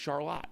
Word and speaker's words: Charlotte: And uh they're in a place called Charlotte, Michigan. It looks like Charlotte, but it's pronounced Charlotte.